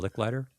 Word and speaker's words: Licklider: Is that how you pronounce it? JCR Licklider.